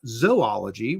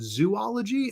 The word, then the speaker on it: zoology: for a long time, I think I pronounced it zoology, and I'm still kind of debating. Like I hear people say it both ways, zoology and zoology. But when you think about it, I think it's probably should be zoology because it's spelled, Zoology. If it was zoology, I think it'd have to have 3 O's, right? ZOO. And then ology, so zoology, and that's not how it is.